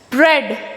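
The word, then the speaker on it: bread: लेकिन लिखा जाता है ब्रेड ब्रेड में क्या होते हैं ए साइलेंट रहते हैं ब्रेड देखिए ब्रेड ए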